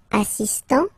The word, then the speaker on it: assistant: Il est assistant, so don't pronounce the final T here, but for the feminine form, elle est assistante.